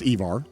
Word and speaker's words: Evar: Or if they really want to do this, like they did with Evar, okay, and yes, it's pronounced Evar.